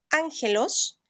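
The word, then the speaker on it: ἄγγελος: palabra o una G, cuando encontremos una doble G, se va a pronunciar como ng. Ejemplo, en el griego, la palabra ángel, sí, que en el griego sería ángelos, no lleva una nu, lleva dos gs.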